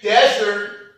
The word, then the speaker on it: desert: If we say desert and we put the stress on the first syllable, it is a noun.